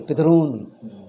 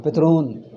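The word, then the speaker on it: पितॄन्: Should not say Pitrun. Thru becomes long. Pitrun.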